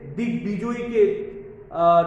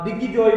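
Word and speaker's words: দিগ্বিজয়ী: এই জন্য দিক বিদিক, অনেকে দিক বিজয়ীকে দিগ্বিজয় বলে, এটা হবে না, আমাদের মূল উচ্চারণ করতে হবে দিক বিজয়ী।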